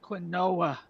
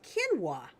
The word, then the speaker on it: quinoa: And I used to pronounce it quinoa. Yeah, it's pronounced quinoa.